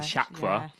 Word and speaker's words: chakra: pronunciation, so common Sanskrit words that are often mispronounced. So I think one of them is chakra. Old people chakra, which is chakra.